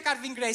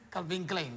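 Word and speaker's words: Calvin Klein: umiliato dicendomi Ahah ignorante non si dice carvin Grey si dice Calvin Clin Calvin Calvin donna donna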